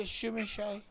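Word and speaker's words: Tzimisce: So Do you know why I call it a shimishay? It's Ukrainian? a Romanian speaker. I sent him the word. Right. And he said, and I quote, "This is pronounced shimishay."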